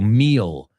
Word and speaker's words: meal: So meal, okay? So meal rhymes with feel. It also rhymes with steal.